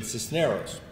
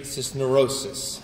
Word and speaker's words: Cisneros: My name is Cisneros in Spanish, if you can roll the R's. If not, I'll accept the English pronunciation Cisneros.